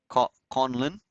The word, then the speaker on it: Conlon: Stephen Conlon, pronounced Conlon, Irish, English.